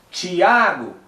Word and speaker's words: Tiago: A separação silábica, no caso o meu nome, Tiago, é uma paroxítona, né? Tiago, porque o A é o mais pronunciado. Quando alguém vai me chamar, a pessoa não vai gritar Tiago e também não vai gritar Tiago.